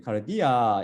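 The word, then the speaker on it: καρδίᾳ: 처음 단어는 카르디아로서 이것은 카르디아의 역경인 카르디아 약간 길게 이건 발음해야 돼요. 똑같이 카르디아 똑같이 발음되지만 이건 밑에 이오타라는 게 붙어가지고 좀 더 길죠.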